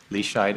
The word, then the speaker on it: Leschied: the record please State your full name and spell it out p-a-u-l leashide l-e-s-c-h-i-e-d do you solemnly affirm that the evidence